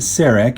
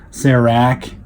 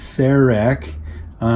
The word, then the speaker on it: CEREC: can you can read this but it is pronounced to CEREC if you ask the people at dense supply Cerrone that's not Sarah RAC or Sarah Corr sirak it's Sarah RAC generally speaking at least the way I was